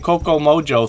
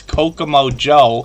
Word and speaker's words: Kokomo Joe: I keep saying Coco Mojo 13, but I realized last night it's Kokomo Joe 13.